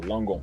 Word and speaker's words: Langon: I don't want to mispronounce it. Yourself of southeast of Bordeaux, Langon. Yeah. Langon.